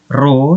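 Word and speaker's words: ρ: rumus menentukan massa jenis roh ini bacanya royal bukan huruf t tapi ini roh nah memang mirip seperti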